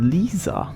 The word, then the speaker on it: Lisa: who that is lisa it's actually not pronounced that differently in german the only difference is the i sound in german it's more like not sure what else